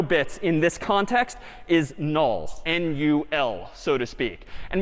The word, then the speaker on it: NUL: like this instead and this character is again sort of pronounced null or written n-u-l so that's all right